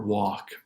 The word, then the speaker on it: walk: The last 2 words won't pronounce the L in salmon, salmon, or walk.